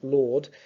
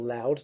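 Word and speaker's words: Laud: and his archbishop archbishop lord or loud depending on your pronunciation l-a-u-d as being far too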